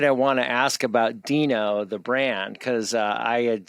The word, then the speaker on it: Deno: node uh and the the pronunciation was was uh back ported to to uh fit the the dinosaur character uh uh so yeah